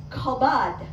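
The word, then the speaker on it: כבוד: you how it's pronounced the word honor is kabad if you know anything about the word for Glory in the Bible the word like convod very kin to this they are cousin words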